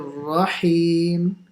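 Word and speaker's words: رحيم: Okay, so try and pronounce the ha as well on the Bismillah, not making it sound like a kh. So Rahmanir Rahim.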